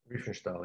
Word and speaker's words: Riefenstahl: He's a kind of his own Lenny how do I pronounce it? Riefenstahl? Riefenstahl, yeah.